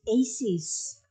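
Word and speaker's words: ACIS: islamic studies their academies how did you pronounce that you say a cheese right i met one of them and he said no it's aces hello that's what i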